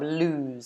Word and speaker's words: lose: season in this case the verb lose so ooh sound however we have this